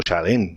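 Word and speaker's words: שלום: Bueno, shalom no se escribe shalom, no se pronuncia shalom, sino shalem.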